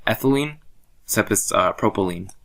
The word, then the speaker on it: propylene: like ethylene sep is propylene so it's like it rhymes with gasoline right so propylene ethylene